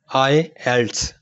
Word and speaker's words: IELTS: सबसे पहले हम बात करते हैं कि IELTS इसको प्रोनाउंस किस तरह करते हैं। तो इसका करेक्ट तलफ़ुज़ है IELTS।